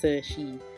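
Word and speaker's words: 慈禧: And her name is spelled in English Cixi, but in Chinese it's pronounced Cixi.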